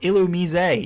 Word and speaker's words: Illumise: Actually, it's pronounced Illumise, even though nobody pronounces it that way.